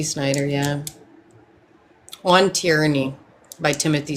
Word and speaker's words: Snyder: Yeah, I thought it was like Schneider. No, it's Timothy Snyder.